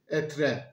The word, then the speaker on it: être: Comme les lettres à la fin du mot ne se prononcent pas en français, il s'écrit « être », mais il se prononce « etr».